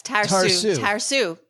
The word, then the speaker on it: Tarsu: I don't know this word. I'm not going to pronounce this right. Tarsu? Tarsu? Yes. Tarsu. Mm-hmm. You were called Tarsu as a kid. I was. It means scaredy cat in Farsi. It's literally, it means a